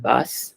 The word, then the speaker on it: bas: So Aishwarya, it's not bas, it's ba. Okay. Okay. We don't say the last consonant in French Hmm. usually.